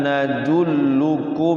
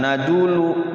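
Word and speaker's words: نَدُلُّ: Hal nadulluk ala nadullu. Ada tasyid hati-hati ya. Kalau nasyid itu dia ditekan dulu. Dulu jangan nadulu.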